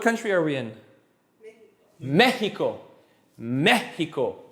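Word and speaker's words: México: Mexico. How many syllables in Mexico? 3. Where am I putting my push? On the first. So what does that tell me? Accent on the E.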